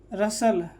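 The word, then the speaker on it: rustle: इस तरह से HUSTLE, तो यहाँ पर T साइलेंट हो जाएगा। हसल, नेसल, रसल, ठीक है।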